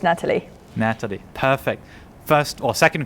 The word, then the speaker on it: Natalie: intonation for your name Natalie how do you pronounce it hi Sebastian yes it's Natalie Natalie perfect first or second question now who